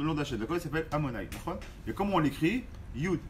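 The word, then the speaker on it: אדני: On l'écrit Yud Ke Vav Ke, mais on le prononce Amonai.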